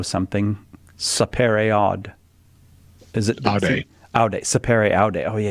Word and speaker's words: aude: Aude. Aude, sapere aude. Oh yeah, you got to pronounce that last E in Latin.